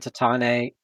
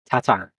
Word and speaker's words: Tatane: Okay, so how is Tatane pronounced? Is it Tatan, Tatane, Tatan?